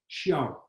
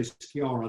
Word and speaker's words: Shaara: No, Shaara originally was spelled Sciarra, Shaara. Or some people say Sciarra, that's not right. It's Shaara.